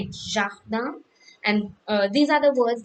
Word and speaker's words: jardin: And then we have the second word like jardin, so its pronunciation is like JHARDAN, jardin.